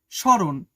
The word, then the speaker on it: স্মরণ: স্রণ। এখানেও ম ফালাটা উচ্চারিত হইলো না। যেন সিম্পল স র স্মরণ এভাবে লেখা আছে।